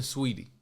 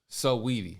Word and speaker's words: Saweetie: Cardi was nailing Sweetie. Saweetie. I know you gotta say her name like that for some odd reason.